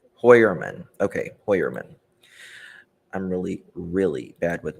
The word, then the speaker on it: Heuermann: What we know about this, how do we pronounce his last name? Heuermann. Okay, Heuermann.